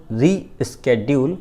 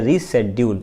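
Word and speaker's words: reschedule: I will have my assistant call you टू रीस्केड्यूल या रीशेड्यूल, स्केड्यूल और शेड्यूल दोनों के प्रोनाउंसिएशन है अमेरिकन ब्रिटिश के अकॉर्डिंग।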